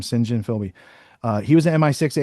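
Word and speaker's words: St John Philby: Uh Singhen Philby or St. John Filby is how Americans say it, but his name Singhen Philby.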